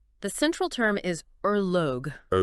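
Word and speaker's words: ørlög: The central term is erogue. Erlo, pronounced roughly erog.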